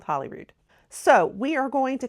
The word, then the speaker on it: Holyrood: Holyrood Palace, which we've been going back and forth on whether I'm saying Holyrood right or not. I think there's some debate. Some do say it Holyrood and some say it Holyrood. I'm just going to stick with Holyrood.